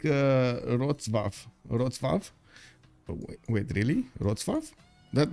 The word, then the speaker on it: Wrocław: It's pronounced more like Wrocław.